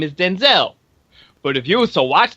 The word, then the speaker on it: Denzel: movie now as everyone knows my name is Denzel but if you so watch this movie it is not pronounced the way it's supposed to be they said Denzil so the first time I heard that I